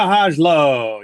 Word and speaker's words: Hajlo: Hajlo. Yes, the J is loudly pronounced.